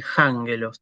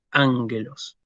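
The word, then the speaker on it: ἄγγελος: que hacer una aspiración, yo no tengo que decir jángelos, tengo que decir ángelos.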